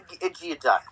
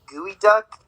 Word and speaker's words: geoduck: Now you might ask yourself, what is a Geoduck? First of all, it's not even pronounced that. It's pronounced like Gooey Duck.